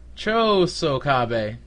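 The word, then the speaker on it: Chōsokabe: Chokosabe? Chosoho? Chosokabe.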